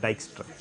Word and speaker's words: Dijkstra: due to dijkstra uh j is pronounced y so it will become d i y case dijkstra okay and what did